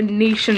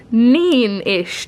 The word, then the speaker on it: Neenish: First of all, has anyone ever tried a Nation tart? Because they are so good. I think you're pronouncing it well. I am, Nation. Oh no, shit, I'm not. It's Neen-ish tart, not Nation.